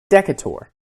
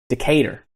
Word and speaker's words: Decatur: Now, if you read it the way it's spelled, it should be Decatur. But the way that it's pronounced by the locals is Decatur.